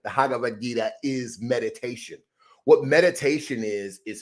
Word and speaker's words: Bhagavad Gita: in the Bhagavad Gita, I'm still messing that up. Bhagavad Gita, I got to remember the B is silent. The Bhagavad Gita is meditation.